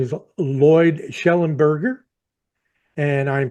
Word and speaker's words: Shellenberger: His name is Lloyd Shellenberger, and I'm pronouncing that correctly, aren't I, Lloyd?